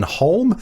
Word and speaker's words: Holm: Now, I would like to pronounce that as home, but I'm not going to because it's such an Aussie slang way of saying it. I believe it is Ian Holm.